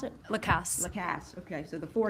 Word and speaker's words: Lacasse: I'm sorry, how you pronounce it? Lacasse.